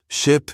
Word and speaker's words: ship: Ship, sheep, she said, pronouncing the short I in ship with a clipped voice, then stretching out sheep with the long E.